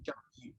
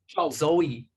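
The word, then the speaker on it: 周易: also refer to this book as another name, Zhou Yi. Okay. Bien, lo que dice Donald es que bueno, el libro que llamamos I-Ching también se lo conoce como, how do you pronounce it? Zhou. Zhou Yi.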